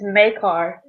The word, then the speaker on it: Makar: It's Makar. Okay, I was switching the R and the K.